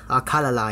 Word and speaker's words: Akkala: zelda once again and we are going to akala akaka kala akala yes i'm not trying to make fun of it that's exactly how i pronounce it but last time we finished death